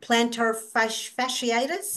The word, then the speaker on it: plantar fasciitis: She has plantar fasciitis.